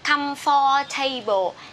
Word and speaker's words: comfortable: A lot of my students said this is comfortable or comfortable. No, this is comfortable. This is table in chair, but this one is comfortable. Okay, different pronunciation. Comfortable.